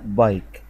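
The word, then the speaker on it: bike: سايلنت ما تتنطقش، لكن الكلمة ما تقالش بيك، ما انطقهاش كسرة كده غلط. الكلمة بقولها بايك، شوف أول كلمة معانا اسمها بايك، يبقى الأي اتنطقت أي فأنا بقولها بايك، وإيديه بتتنطق أي لأن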